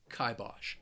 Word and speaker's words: kibosh: see this word when reading a story it's pronounced kibosh to put the kibosh on something i really